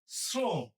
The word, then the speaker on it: শ্রম: তালবসের সাথে রফালা থাকলে তালবসের উচ্চারণ ইংরেজি এস এর মত হয়। শ্রম তাহলে হবে কি শ্রম